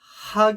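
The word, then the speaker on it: حاء: 요 하 경우에는요 발음이 우리 그 창문 닦을 때 목구멍에서부터 하 하잖아요. 힘을 빼고 이러한 음가입니다. 하 이런 식으로 발음을 하시면 됩니다.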